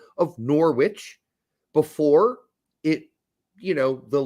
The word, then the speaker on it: Norwich: I'm an American and I see the W and I pronounce the W well I'm doing it on purpose I know that people pronounce it Norwich I like putting the